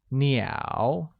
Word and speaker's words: 鸟: Therefore, I have 3 birds is translated as 我有 3 只鸟, where 鸟, meaning birds, is pronounced with a falling rising tone.